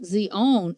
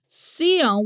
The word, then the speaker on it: Sion: in Deuteronomy 448 however is not Zeon at all but an entirely different term seone with an S and indeed is the